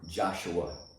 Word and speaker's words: Joshua: didn't underline it but the first syllable in the word Joshua is strong Joshua and that's it be sure